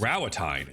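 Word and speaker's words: Rauatai: Rowatine is how you say it.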